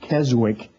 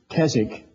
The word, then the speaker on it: Keswick: Joseph Jenkins he was what they call a Keswick man most Americans don't understand they've heard the word sometimes they pronounce it Keswick but it's Keswick by the way this was the first year